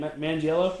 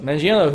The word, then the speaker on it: Manganiello: Manganiello? Manganiello, who is Deathstroke.